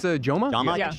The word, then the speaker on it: Jomha: Hey Jama said pajama.